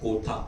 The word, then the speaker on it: Kotha: guys to tell them it is king of kotha and not the usual Hindi pronunciation um so it's in